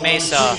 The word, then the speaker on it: Mesa: We got another text from the Sidos down in Arizona, and apparently it's pronounced Mesa, like the hill thing with the flat top.